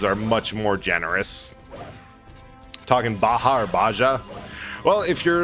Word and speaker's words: Baja: cup very hard, would hurt a little bit more than a cup of Baja blast to the face.